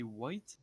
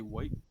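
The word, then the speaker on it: wight: context what is a white a white dead don't you play rpgs if i forget what a white is i've never well it's not spelled white like the color it's just pronounced like that looks like that yeah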